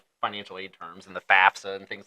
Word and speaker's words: FAFSA: but a lot of people say fasta F roll better that way Z is raising his hand me I say fasta right it works phonetically better but it is FAFSA right and FAFSA and